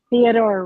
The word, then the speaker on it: Theodore: It's pronounced Rutke. Huh? Theodore Roethke.